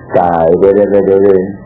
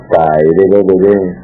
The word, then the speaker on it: Taerere: La un mantra para desdoblamiento astral es el Taerere, se pronuncia así: Taerere, Taerere, Taerere, así medio cantadito.